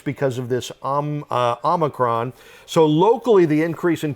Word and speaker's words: omicron: about omicron right that's how you say it omicron a year ago most of the people most